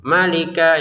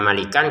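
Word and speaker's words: مَلِكًا: Malika ini kan panjang nggak ada, cuman kafnya. Perhatikan untuk malikan kita panjangnya, kita bacanya malika. Jadi kita tidak panjang, tidak baca malikan karena kita berhenti ya.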